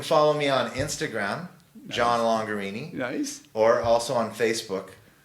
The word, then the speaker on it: Longarini: me on Instagram John longer Eenie nice or also on Facebook John longer Eenie and longer Eenie is spelt rhymes with Lamborghini Lamborghini John longer yeah